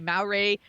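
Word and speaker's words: Māori: going to make sure I'm pronouncing this right, Maori. Uh-huh. And that's the indigenous people of New Zealand. So he's a Maori, trying to get it right, Maori.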